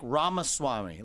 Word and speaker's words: Ramaswamy: in the building Vivek Rama Swami did I say it right that's actually pretty good it's better than most yeah it's like Rama Swami like CD-ROM but yeah what I